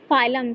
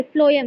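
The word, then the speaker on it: phloem: किससे ट्रांसपोर्ट होता है फाइलम से सॉरी फ्लोम से किससे फ्लोम से देखिए एफर फूड फ से प्रोनाउंस हो रहा है ये और फ्लोयड्स बी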